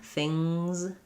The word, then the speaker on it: things: So things is just going to have the Z sound after thing, things. And again, it's going to be a weak Z there, although if I'm linking,